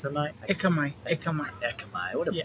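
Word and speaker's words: Ekkamai: Me and you like Akamai. How do you pronounce that? Ekamai.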